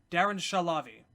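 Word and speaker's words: Shahlavi: I hate that I can't remember how to pronounce his name. Darren Shalavi.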